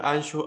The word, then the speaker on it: Anxo: Miguel Anxo Bastos, o la gente que nos da pronunciado la X, es Miguel Anxo Bastos. Es con X, Miguel Anxo, ANXO.